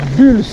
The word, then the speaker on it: Bulls: Ce vélo Bulls, ou Bulls si vous prononcez à l'anglaise.